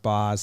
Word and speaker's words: Baz: is weird yeah and it's spelled baz but pronounced boss so you'd need a